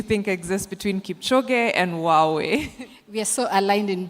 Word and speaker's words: Huawei: Going over now to our next stand, which is Huawei or Huawei. I think Huawei is the correct way to pronounce it, but I don't want to preempt.